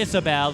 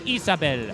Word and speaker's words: Isabel: I like the fun facts more than your points, but I think you said you pronounce it like you would in the Hispanic variant, so it wouldn't be Isabel, it's Isabel.